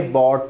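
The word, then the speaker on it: bought: Why have you बॉट ticket for मी, सो बाय की third form है बाय बॉट बॉट। So guys bye बॉट बॉट, बहुत से student बाउट बाउट कहते हैं, ये wrong pronunciation है।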